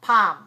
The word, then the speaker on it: palm: went to palm springs not plum palm palm again i went to palm